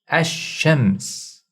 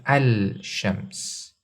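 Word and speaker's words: الشمس: shadda so we pronounce ashems ashems we don't say al-shems the lam is assimilated into the first letter when it comes to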